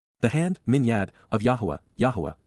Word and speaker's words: Yahweh: hand minad of Yahweh Yahweh the proper pronunciation of the name of eloah God as directed in his Torah teaching regarding his higher existence